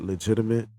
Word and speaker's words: Leigitimate: dot dog and then i got legitimate but it's not spelled legitimate it's spelled l-e-i-g-i-t-i m-a-t-e the the lady yeah that's the lay-in there you see it okay